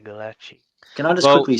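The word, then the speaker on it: Gulácsi: Galachi. I pronounce Galachi.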